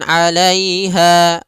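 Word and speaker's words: عليها: Kemudian pada lafal ha ada mad tabi'i, panjangnya 2 harakat, yaitu fathah bertemu alif. Fan ada mad arid lis sukun.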